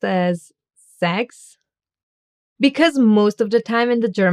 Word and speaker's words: Sechs: The string S that gets pronounced as an Z at the beginning of a word and a soft S that gets pronounced as an S. Sechs.